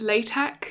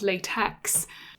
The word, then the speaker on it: LaTeX: should probably say about the pronunciation it is pronounced latex not latex so installing this was quite straightforward I won't